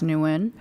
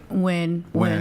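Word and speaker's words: Nguyen: You could say it however you want, but I technically like to pronounce it as newin. Nuin, but people call it like win.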